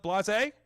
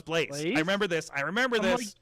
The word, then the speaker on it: Blaze: Blase? Is that your name out there? I think I said it right. Blaze. No, it's Blaze.